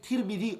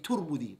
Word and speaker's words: Tirmidhi: The Messenger sallallahu alayhi wa sallam said in a hadith, Imam Tirmidhi narrated, you can say Tirmidhi or you can say Turmudhi. Both ways are correct.